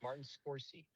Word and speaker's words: Martin Scorsese: It's Martin Scorsese.